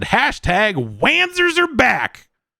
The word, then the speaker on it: Wanzer: And for that, it just said, hashtag Wanzers are back. And then they pronounced it Vonzers, which, I mean, yeah, that's okay, fine. I just like saying Wanzer.